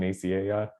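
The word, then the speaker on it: Nicieza: And so it's Oh, 32 is I think Fabian, I always forget how to say his name, Fabian Naciea, yes, yeah, and I Andy know.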